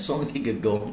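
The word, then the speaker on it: Søren Kierkegaard: bernama son kigegong gitu tulisannya soren kigegard gitu bacanya son kigegong Nah itu dia melihat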